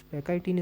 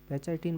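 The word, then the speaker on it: pachytene: में पेचाइटीन या पैकाइटीन, आप कुछ थोड़ा प्रोनाउंसिएशन इंग्लिश का वेरिएबल होता है, तो कुछ पैकाइटीन इसको बोलते हैं, कुछ पेचाइटीन बोल देते हैं टेक्निकल टर्म में।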